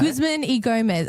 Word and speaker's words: Guzman y Gomez: He was waiting, he thought, too long for his food at a how do you say Guzman e Gomez, a GYG. But it's the Brazilians say E, not Y.